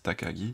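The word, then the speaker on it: 高木: noms japonais c'est que une même écriture peut avoir plusieurs prononciation et du coup le takagi entre parenthèses nous indique que voilà c'est kenji ici se lissent takagi c'est takagi san et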